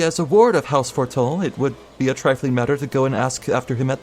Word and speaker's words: Fortemps: See, it's spelled Fortemps, but it's pronounced Fortol, I think.